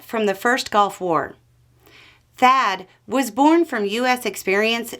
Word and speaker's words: THAAD: United States has a system called Thad Thad spelled with two A's stands for terminal high